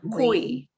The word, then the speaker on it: cuy: But they're all be E sounds because they're hanging off the end of the word. So I'm going to do them one more time. I, oi, muy, cuy.